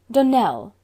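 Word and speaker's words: Donnell: would set it right Dell Accent on the last syllable and stclair on no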